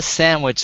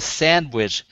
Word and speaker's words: sandwich: my sister I said it's not a sandwich it's a sandwich there's no Sam in here and uh who put the m in this word but you know you